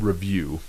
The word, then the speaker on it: Riviu: their activity is an app called Review, and it's spelled a little bit different, but we're going to go ahead and go into that right now.